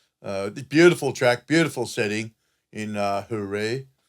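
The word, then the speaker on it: Jerez: Beautiful track, beautiful setting in Hooray. Hooray, is that how you say it, mate? Hooray without the Z or the... Yeah, it's like a H.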